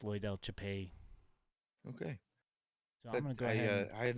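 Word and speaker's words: Loidel Chapelli: second at bat here is that how you pronounce his name by the way Japan yeah yeah it's Loy Del chapey okay I had not picked that one up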